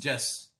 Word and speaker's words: jus: The English word jurisprudence, according to various philosophers, is derived from the Latin word, is the genitive form of jus, pronounced jus, meaning law and prudentia.